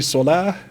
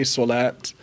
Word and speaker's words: Salah: rules of Arabic so you could say Salah or you could say solat they're both correct pronunciations but I do see